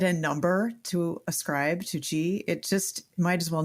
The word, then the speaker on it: qi: And for listeners, that's spelled Qi, but qi.